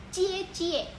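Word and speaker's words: 姐姐: j dalam bahasa Mandarin huruf j itu dibaca menjadi huruf C contohnya jijik tertulis Ji Jie namun dalam bahasa Mandarin dibacanya menjadi cie-cie yang artinya kakak perempuan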